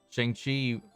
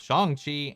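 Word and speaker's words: Shang-Chi: day but not anytime soon i would doubt chiang chi in the ten rings versus dc eu aquaman why'd i say akaman why did i mispronounce both of these names shang chi and akka man um hmm i mean from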